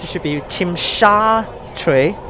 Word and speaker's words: Tsim Sha Tsui: It should be Tsim Sha Tsui, not Tsim Sha Tsui, because it's SHA, not SA.